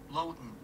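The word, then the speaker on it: Loaghtan: So it's Man-X, so Manx, and then Lowton. Shoop. Manx Lowton, the type of sheep I want to use in this illustration.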